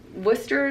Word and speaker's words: Worcester: reel about pronouncing worship i grew up in worcester massachusetts so i know how to say wooster so it's funny it's